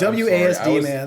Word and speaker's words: WASD: WASD, man. That's how it's said. I was trying to let it go, but like ASWD is just not how anyone says that.